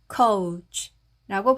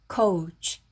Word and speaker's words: coach: 그때 그 코치입니다.이 우소리가 약하다 보니까 우리가 이제 들었을 때는 소리로 옮겨서 코치라고 얘기를 하죠. 코치.이 이 취소리도 치로 우리는 표기를 합니다. 그래서 코치를 한글로는 이렇게 표기를 하죠. 영어로는 coach coach라고 발음하시면 됩니다.